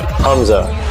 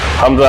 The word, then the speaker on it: Hamza: i d that's correct nice how do I pronounce that Hamza Hamza how do you pronounce your last name hammed